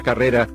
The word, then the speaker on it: carrera: La palabra carrera lleva la mayor fuerza de voz en la penúltima sílaba, y según este cuadro, no se tilda.